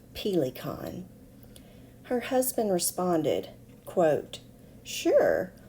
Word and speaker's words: Pelikan: yet accustomed to the proper German pronunciation of pila kein her husband responded quote